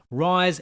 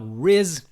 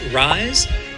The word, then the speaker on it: Wryz: clarified with me that her name is pronounced rise and not Riz uh another Eden Adventure is yes it is pronounced rise uh I I had